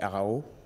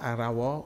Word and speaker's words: Arao: Euh c'est Arao. Oui. Ara c'est pas Arawa ou non ? Ara. Ara. Oui. Ara.